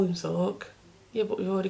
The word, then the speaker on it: Xorq: I assume that's a Zork. Because it's XORQ. Mrs. Zork.